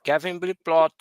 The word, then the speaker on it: Kevin Ploth: Kevin Ploth is I correct if I pronounce right, right?